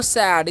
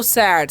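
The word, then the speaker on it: sad: sentence हमारा है हाउ सैड इसे हम क्या पढ़ते हैं हाउ सैड साड नहीं पढ़ना है एक न यहां पर ए करना है इसलिए क्या पढ़ेंगे हम हाउ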